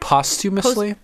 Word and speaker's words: posthumously: Posthumously?